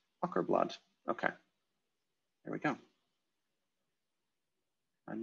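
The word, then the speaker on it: Åkerblad: Oh, A with a circle on top is pronounced like O in rock. Ockerblad.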